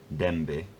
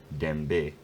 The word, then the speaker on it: dęby: This means that the first syllable is stressed, dęby, dęby, rather than dęby, dęby.